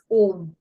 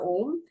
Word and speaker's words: ओम: हाउ to chat Mantra ओम so basically अ उ म यह तीन अक्षर मिलके ओम शब्द होता है सम पीपल स्पेल इट